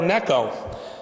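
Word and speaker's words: Necho: he died defending it from the great Pharaoh NECO NECO that's neco with one scene not to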